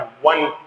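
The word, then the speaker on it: one: लेकिन इसकी प्रोनाउंसिएशन और इसकी साउंड को आप इस पे ध्यान दें तो ये डब्ल्यू से आ रहा है। वन सही है ना? ओ से नहीं आ रहा।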